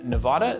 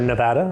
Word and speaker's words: Nevada: So Bentley Heritage is an estate distillery in Nevada. They make this gin from grains that they 100% grow on their own property. Or Nevada, as they say in Nevada. Oh, did I say it like a northerner?